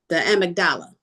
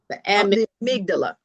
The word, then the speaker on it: amygdala: The amagdala. The amdala. Right. The amygdala.